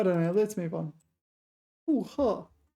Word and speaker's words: 复合: 复合. This is one of these rare cases when this is pronounced fourth tone. 合.